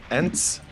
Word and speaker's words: Ence: And in the top right corner is the blue Protoss, currently playing for Ence. If Ence, Ence yep. Esports. Ence, okay. I didn't know how to pronounce it correctly.